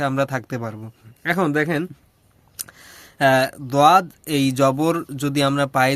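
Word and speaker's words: ضاد: এটা নিয়ে দ্বন্দ্ব আছে অনেকের মাঝে যে এটা দোয়াদ হবে না জোয়াদ হবে, জোয়াদ না দোয়াদ, মানে দ জয়ের মাঝামাঝি একটা উচ্চারণ মূলত আসবে। তো দেখেন অত চিন্তা করার দরকার নেই, আপনি যেটা দর হিসেবে দোয়াদও পড়তে পারেন অথবা দোয়াদও পড়তে পারেন, দ জয়ের মাঝামাঝি পড়লে সবচেয়ে বেটার হয়, তাহলে উভয়ের পক্ষে আমরা থাকতে পারবো।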